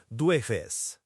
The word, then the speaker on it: jueves: And then we have Thursday, which is Jueves, J-U-E-V-E-S, pronounced duefes. That J is key here, it's that soft G sound, and Jueves comes from Jupiter, the king of the gods.